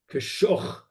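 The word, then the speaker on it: כשך: Achar hadvarim ha'ele, is it kisoch or kishoch? Perek Bet, the Pasuk Aleph. Kashoch.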